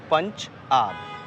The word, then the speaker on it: Punjab: is timeless okay so when you talk about punjab punjab we always pronounce with the two words punch up punch mean five and up main rivers ah okay punch mean